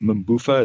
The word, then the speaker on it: MBUF: of the MBUF or you call it MBUF? Is that how you say it? MBUF, right. MBUF? Yeah. A lot of people say it sounds like a dance.